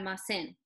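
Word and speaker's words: almacén: just a little bit more time on the pronunciation so it's going to be out of my sin my sin my sin my sin you got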